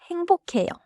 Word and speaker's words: 행복해요: But in natural pronunciation, it sounds close to 행복해요.